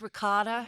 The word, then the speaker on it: ricotta: raised her kids in Cleveland, and she said, "Can you please pronounce it correctly? It's mozzarella ricotta."